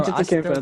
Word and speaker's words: Antetokounmpo: At like Boston with can you pronounce his name for me? Giannis. Giannis Giannis Antetokounmpo. How do Antetokounmpo. you Antetokounmpo? Bro, Antetokounmpo.